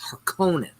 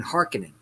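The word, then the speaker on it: Harkonnen: okay it's uh house of tradies and house herconan they kept saying hearkening i'm like y'all are saying this [ __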